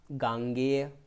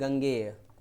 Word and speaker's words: गांगेय: अब देखिए यही नियम अन्य कुछ शब्दों पर लागू होता है, जैसे गंगा से संबंधित गांगेय। अब इसमें ये नहीं गंगेय, ये वाले शब्द गलत हो जाएंगे आपके, हो जाएगा गांगेय।